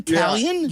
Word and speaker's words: Taillon: The thing I took from that soundbite was that I've been pronouncing Jameson Taillon's name incorrectly. Did he say Talion? Yes.